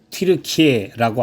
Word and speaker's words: 튀르키예: 이 아시아는 보통 소아시아라고 부르는 지금의 터키, 요즘은 그 나라의 발음대로 튀르키예라고 하는 나라의 영토입니다.